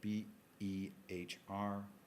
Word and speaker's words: Behr: It's spelled B-E-H-R.